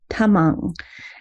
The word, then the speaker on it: Tamang: And that's T is not a T, it's a soft T, Tamang.